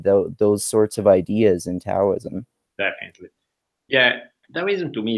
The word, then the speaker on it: Taoism: or is it pronounced Taoism? I've heard it pronounced both different ways. It's technically, it's kind of like between a D and a T, so it's sort of like close enough.